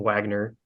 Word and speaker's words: Wagner: the Wagner group uh spelled with a W so everyone calls him Wagner uh who were pretty